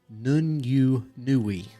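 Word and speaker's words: Nûñ'yunu'wï: But in Cherokee, it is pronounced Nun-yu-nui.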